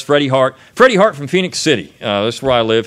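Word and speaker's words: Phenix City: live in phoenix city you have to say it this way it's not phoenix city it's phoenix city alabama uh you gotta say it like that right you gotta be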